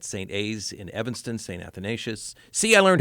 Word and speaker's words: Athanasius: Foyle principal at St A's in Evanston Saint athanasius see I learned how to say it and